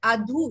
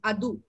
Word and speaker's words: adhu: That is, you say adhu. It is not adhu. It's just adhu.